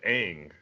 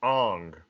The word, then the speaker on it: Aang: the show were like, his name's Aang, and he was like, no, they would pronounce it Ong.